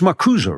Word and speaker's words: Marcuse: from Marx to Marcuse, it's Marcuse, right? There's an actual, pronounce that E.